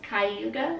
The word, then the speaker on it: Cayuga: Okay, so the USS Chicago, USS Cayuga, is that how you pronounce That's that?